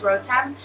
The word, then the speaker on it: Rotem: It's just Rotem, my name, which, by the way, if you don't know, it's pronounced Rotem.